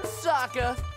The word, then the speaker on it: Sokka: That's right, I'm Sokka. It's pronounced with an akka.